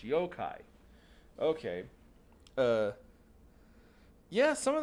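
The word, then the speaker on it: yokai: a little while there yoai is how it's pronounced yo-kai okay uh yeah some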